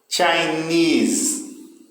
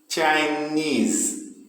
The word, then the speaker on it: Chinese: Vamos aí para a segunda coluna, terceira palavra aí, Chinese. Chinese. Não é? O final aí que tem mais força, knees.